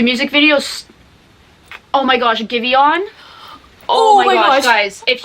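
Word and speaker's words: Giveon: and it was like it's spelled give on like one word but it's pronounced give you on i had to look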